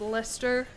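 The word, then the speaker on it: Leicester: Nothing will ever top that being pronounced as Lester.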